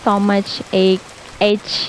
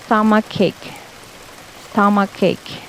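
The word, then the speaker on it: stomachache: memang sama kayak dan banyak yang membacanya itu so much 8 ya padahal pronunciation yang benar untuk sakit perut adalah sama cake bukan stomach age ya dan Hi Miss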